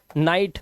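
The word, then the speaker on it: night: से ही पढ़ेंगे और जीएसटी में जीएच साइलेंट होगा सिर्फ टी को पढ़ा जाएगा अब यहां पर देखो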